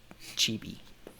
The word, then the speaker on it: chibi: Yeah, I think it's chibi. Chibi sounds like off. And I'm studying Japanese, so it's pronounced chibi.